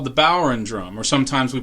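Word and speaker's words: bodhrán: collection it's called the bower and drum or sometimes we pronounce it bower and drum um it's being pronounced in english but actually it's an irish gaelic word that if you saw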